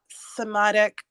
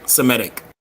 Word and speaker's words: Semitic: who speak one of the somatic language I'm probably saying it wrong Semitic yes thank you a family of languages